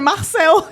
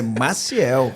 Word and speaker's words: Maciel: Ele falou assim, ué, mas o nome dele não é Carlos, é Marcel, que não é nem Marcel. É Maciel.